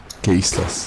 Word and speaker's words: keistas: kaistas. Keistas. Oh, Keistas, yeah. Keistas.